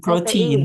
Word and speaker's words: protein: Protein. B. Protein. B. Protein. TE dibacanya T, tapi ya, protein.